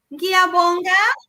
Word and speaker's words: ngiyabonga: N- It's this It's the ngiyabonga NGI.